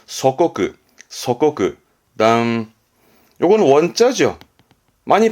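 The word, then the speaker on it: 祖国: 내 나라 조국의 발음은 소코쿠, 소코쿠.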